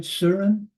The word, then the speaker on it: Surin: Let's start with, am I pronouncing this right? Surin? Is that the correct pronunciation? Да, все верно. So, Yes, hello, Venerable Sumati. It's okay. You have pronounced it correctly.